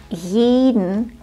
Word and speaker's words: jeden: Achte bitte darauf, dass der erste Vokal bei jeden lang ist. Jeden. Jeden. Jeden. Auf jeden. Und wie sprichst du den Vokal im dritten Wort aus?